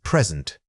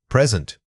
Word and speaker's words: present: The word is present. Say it again, present. When practicing these pairs, try exaggerating the stress placement.